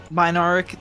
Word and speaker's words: binharic: in sync and the binharic I always like I mispronounced that clamor makes a symphony of reports which the malos coordinates like a skillful conductor. Yeah, just baric. The h is silent. Binaric.